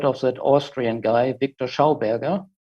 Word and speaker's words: Schauberger: I don't know if you heard of that Austrian guy, Victor Schauberger. I pronounce it in German. He was Austrian, Schauberger.